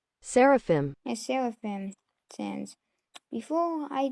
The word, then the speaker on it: Seraphim: This is how it's spelled, and it's pronounced Seraphim. However, still I pronounce that one. Now, before I didn't realize this, but it's actually pronounced Seraphim.